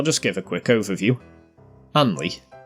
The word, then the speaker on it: Hanley: Anley, or Hanley if you're posh, or not from round here, once one of the